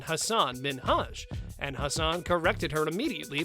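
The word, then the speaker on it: Hasan Minhaj: ellen mispronounced his name she mispronounced his name as hassan minhaj rather than hassan minhaj and hassan corrected her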